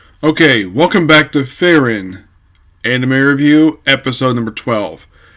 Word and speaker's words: Frieren: the main character's name based upon what I hear how the voice actors in the show pronounce their name fairin not like separate like